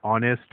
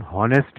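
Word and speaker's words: honest: इसी तरह से एन ऑनेस्ट मैन, एच से शुरू होता है मगर हम हॉनेस्ट नहीं कहते, हम ऑनेस्ट कहते हैं, तो एन का इस्तेमाल होगा।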